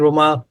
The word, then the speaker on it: Romain: How are you doing, Romain?